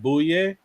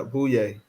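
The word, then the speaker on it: Bouyea: who don't know how to spell it can spell it like anyway, Jamare Bouye? Yeah, booyah.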